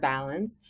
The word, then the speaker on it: balance: syllables in balance and when you say the word balance you have to strongly accent the vowel the because it's really harsh right um in this instance if the bowel makes it strong so Val is strong ants is soft and if bow is